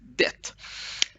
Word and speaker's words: det: So this general eat is det. And of course, I get lots of questions. Do we have to pronounce it or not? It's usually T is usually swallowed, but it's not wrong to say T.